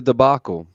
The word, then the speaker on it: debacle: It was quite the debacle, or debacle, or however the fuck the debacle. word is No, you said pronounced. it right the first debacle.